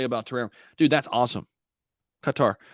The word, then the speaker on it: Qatar: terraria dude that's awesome qatar uh cutter is it isn't it pronounced cutter i know we always say qatar in the united states i think it's cutter right qatar what can you